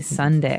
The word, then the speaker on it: sundae: So, as you can see, the word is uh pronounced exactly like the day Sunday. Uh but it has a different spelling in the end. S u n d a e. Sunday, right?